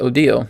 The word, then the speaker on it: Odile: odile just wrote uh my name is pronounced odile and i'm a daughter